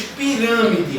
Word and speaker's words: pirâmide: Aqui nós temos pirâmide, a mesma coisa. O rã é pronunciado com mais força. Então o rã é a minha sílaba tônica.